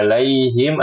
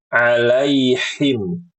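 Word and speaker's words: عليهم: bersabar berikutnya alaihim ya pada kata alaihim adalah mengubah huruf Ain menjadi Hamzah ingat ibu-ibu ini sudahudah sering diulang-ulang Ain Hamzah Ain Hamzah huruf Ain ya ain huruf hamzah ya a a a beda enggak boleh dicampur-campur ditukar-tukar diubah-ubah Enggak boleh ya dan mengubah huruf H besar menjadi H kecil bacanya alaiim alaiim enggak boleh lalu pada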